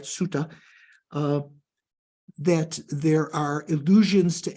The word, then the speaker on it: sutta: Sutras, or we say in the Pali Canon Sutta, because they don't pronounce it sutra, right? Sutta, that there are illusions to emptiness.